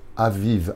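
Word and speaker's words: אביב: d'un peuple qui sort pendant le mois de Aviv. Aviv, ça s'écrit Aleph, Bet, Yud, Bet.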